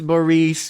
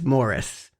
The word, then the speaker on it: Maurice: It's Yeah, it's it actually is Maurice, but everyone because of their accent pronounces it as Morris. It's just a different emphasis. It's Moraice, I guess.